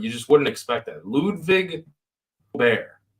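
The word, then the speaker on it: Ludvig Åberg: Ludwig Aubert. It's very subtle. Ludwig Aubert. Aubert with a silent G. You don't see too many silent G's. No, you don't. Like lasagna. Yeah. Real G's moving silence like lasagna.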